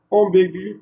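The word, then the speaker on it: ambiguë: Ambigu pour le masculin, ambigu pour le féminin. Donc, je dois rajouter le tréma sur les deux points pour pouvoir lire gu.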